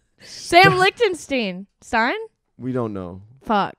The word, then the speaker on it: Lichtenstein: Sam Lichtenstein. Sam Lichtenstein. Stein? We don't know. Fuck. Actually, that's the first thing I ask him. Stein is the old Jewish pronunciation.